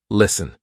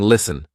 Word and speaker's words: listen: in a word and know that the t is silent for example s t n listen we're not saying listen silent T hustle s tle e